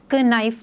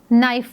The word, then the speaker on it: knife: और नाइफ को हम प्रोनाउंस करते वक्त क नाइफ नहीं पढ़ेंगे, हम इसको नाइफ पढ़ेंगे। सो के इज़ साइलेंट।